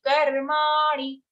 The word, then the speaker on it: karmani: Okay, so whenever there is a short sound at the end of any charan, we have to be very cautious because we make it long without realizing.